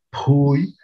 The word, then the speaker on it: pui: Cadereyta, en su pronunciación, ellos pronuncian una P aspirada, como por ejemplo, para referirse a la palabra caballo, dicen pani, o para referirse a la palabra sombrero, dicen pui, o para referirse a